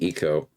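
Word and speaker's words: Ico: Shadow Colossus Vibes and you're saying it's pronounced like Eco I can see the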